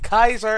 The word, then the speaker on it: Kaiser: Princess Celestia Points for actually giving it the hard C. Kaiser is so much cooler than Caesar.